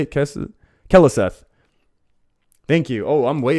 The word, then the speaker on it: Keleseth: Keleseth.